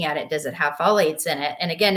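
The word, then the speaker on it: phthalates: it does it have folates in it and again it's not spelled like it sounds it's p h t a l A tes um look for that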